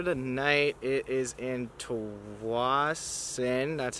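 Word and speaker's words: Tsawwassen: It is in Tawasin, that's how you pronounce it.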